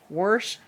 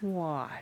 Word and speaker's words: wash: I hate like worsh or wash. There's no R in wash. It's not worsh. It's wash.